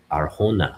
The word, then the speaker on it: Arjona: Adria Arjona, yeah, Adria Arjona. Okay, yeah, we don't pronounce the J.